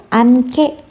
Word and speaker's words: 않게: 히읗과 뒤에 있는 기억이 만나서 소리가 거세지니까 어떻게 발음될까요? 않게. 그렇죠. 않게. 않게.